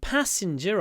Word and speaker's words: passenger: the bus pass passenger so the stress is different in English passenger or in the south of England passengers the passengers I think it's passenger or do they say passengers maybe they say passengers I'm not actually sure anyway you should say passenger I think the northern way that's safe passenger p